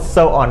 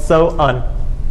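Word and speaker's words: Samhain: The holiday was called So'un. It's pronounced many different ways, but the Celtic holiday was called So'un.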